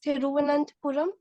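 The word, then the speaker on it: Thiruvananthapuram: next one is Kerala its capital is thiruvananth puram and it's a oh good I'm happy the way you pronounce it right you could have simply told trivandrum okay and it's uh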